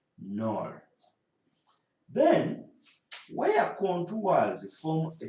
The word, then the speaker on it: knoll: Some of you pronounce it as a knoll, but it is knoll.